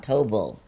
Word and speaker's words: Tobel: marlo today we have alexa von tobile rhymes with noble which i like she's